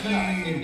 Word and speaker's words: pute: No, I was told it was like pute, like pewter. Like pute. It's written with U, but You say it.